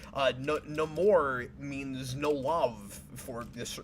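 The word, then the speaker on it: Namor: I I like how the traditional pronunciation of Neymar is just no more with a wakandan accent that's cool um so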